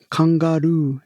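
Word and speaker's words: カンガルー: literally pronounced kongaru in Japanese, but it can be written either longtail donkey or bag mouse.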